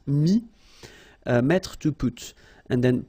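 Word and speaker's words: mis: Mi, same advice here, don't pronounce the final S like we had here. T is not pronounced, S is not pronounced. Mi, mettre, to put.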